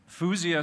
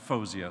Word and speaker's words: Fuzia: Fuzia spelt it Fuzia, but she wants it pronounced Fozia. So Fozia Amin, there she is.